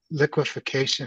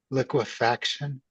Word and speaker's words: liquefaction: rebuttal testimony Mr Bard when we say liqu liquefication isn't it liquefaction yes it is you're correct it's liquefaction the response on page 19